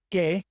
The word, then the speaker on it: que: Guerra guia The other situation in which the U is silent is when it comes after the Q.